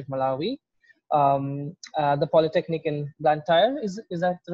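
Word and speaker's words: Blantyre: at the university of malawi the polytechnic in black tire is is that the right pronunciation plantair malawi okay and then also an adjunct professor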